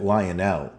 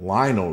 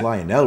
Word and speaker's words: Lionel: I And by the way, he pronounces it Lionel. I would I've little did I know I spent my whole life calling it Lionel Richie. He is Lionel Richie.